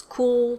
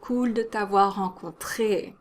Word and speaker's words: cool: ago it's very common but it's also pronounced with a french accent so it's the same ooh sound as in vu and bonjour and it's the same l sound as in so the back of your tongue is flat now a lot of